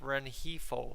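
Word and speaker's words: Renjifo: for the ride um Aiden's telling us it's pronounced renhifo so I mean again I know we were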